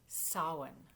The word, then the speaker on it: Samhain: bonfires and costumes and even though the word looks like a man's name it's pronounced Sawan this holy day is